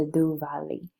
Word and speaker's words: Diwali: The Diwali comes from original Sanskrit, Deepa meaning lamp and Vali meaning row, and it's pronounced the Duvali.